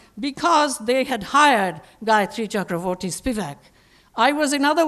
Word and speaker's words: Chakravorty: as pie the because they had hired Gayathri Chakravarthi Spivak I was in other words a single